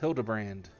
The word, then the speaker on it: Hildibrand: It's pronounced Hildabbrand.